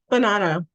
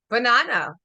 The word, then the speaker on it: Buonanno: how do you say your last name banano banano okay so this is and she's a